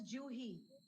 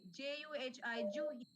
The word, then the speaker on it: Juhi: setting up yeah okay my name pronounced as juhi it is j j u h i j for Japan so it's juhi yes juhi nice to